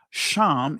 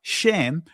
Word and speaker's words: Shem: Sham is the ancient pronunciation of it. And the Israeli is pronounced Shem, right?